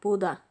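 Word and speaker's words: Bodø: From place in Norway called Buda. Did I pronounce that right? Yeah, Buda.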